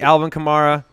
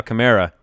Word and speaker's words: Kamara: rollercoaster level sign jersey alvin kamara or as I'm saying now chimera this is what I've been a we're gonna go chimera that's how Alvin chimera says that he wants his name pronounced yeah he said hey